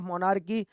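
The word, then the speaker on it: monarchy: जी हाँ, so what is the mean of मोनार्की? या मोनार्की भी इसे कई जगह बोलते हैं, आर साइलेंट रखा जाता है, लेकिन मोनार्की मीन्स क्या होगा?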